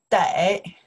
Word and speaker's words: 得: This character, one character, you can pronounce the day.